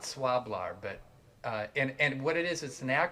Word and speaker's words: Swlabr: into a piece that it's hard to pronounce it's it's spelled s-w-l-a-b-r i call it swab-lar but uh and and